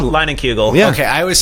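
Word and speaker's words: Leinenkugel: it cuz that's - like you just said lining kuegel yeah okay I always say Landon you don't have to be like no it's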